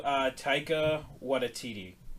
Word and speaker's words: Taika Waititi: I believe it's also Taika Waititi is how you pronounce his name.